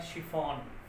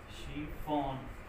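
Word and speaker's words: chiffon: जो शिकेन है उसका मतलब छलना होता है, ये छलना है इसका मतलब छलना, और प्रोनाउंसिएशन होगा इसका शिकेन। और हम ले लें तो वर्ड है आपका शिफॉन, शिफॉन।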